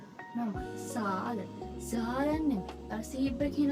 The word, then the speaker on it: Zahlen: Z වල S කියන sound එක තමයි. ඒ කියන්නේ මේ තියෙන්නේ Zahlen. Normal. Zahlen.